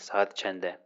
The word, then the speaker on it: Saat çende: Saat çende. Saat çende. Saat çende. Saat. Once you know this, saat, you know how to pronounce this.